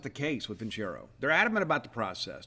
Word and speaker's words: Vincero: It's Vincero. That's how you pronounce it, Vincero.